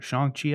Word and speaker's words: Shang-Chi: how much money, like, Shang-Chi makes or Shang-Chi, I guess is how, MCU is pronouncing it, whatever, um, and then Eternals would, probably determine what they're gonna do with it.